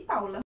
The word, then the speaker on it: Paola: logo no primeiro parágrafo me chame de paula porque assim se pronuncia da forma certa o interessante desse livro